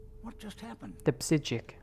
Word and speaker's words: Psijic: The psijic. The P is silent, like in and hippopotamus.